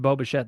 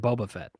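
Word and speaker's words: Bo Bichette: just want to say the way Ross pronounced Boba shet it sounded like he said Boba Fett at first his dad was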